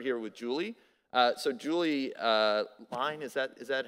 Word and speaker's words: Lein: So Julie Lein, is that how we say the last name? Lein, like Lein. Lein on me.